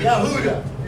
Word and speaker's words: Yahudah: Yahudah is how it's pronounced in Hebrew.